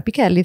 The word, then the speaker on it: Pichelli: I am Sarah Picelli. Thank you for pronounce my last name correctly. It's my Italian roots, you know.